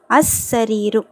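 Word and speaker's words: السرير: ஓகேங்களா அசரிீரு லாம் உச்சரிக்கப்படக்கூடாது ஏன் சீன் வந்து ஷம்சியாவுடைய எழுத்து.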